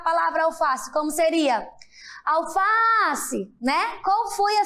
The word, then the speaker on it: alface: eu faço como seria alface né Qual foi a sílaba mais forte qual foi a palavra que mais foi esticada e já sabem é muito bem o fá Olha só alface isso